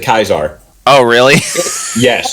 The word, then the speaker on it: Caesar: Well, considering I am an advocate of the NCR, I will call it Caesar. What? Well, It's pronounced. They pronounce it Kaiser.